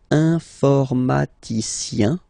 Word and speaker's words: informaticien: So that's the way to pronounce this IEN, yin, yin. Okay, informaticien.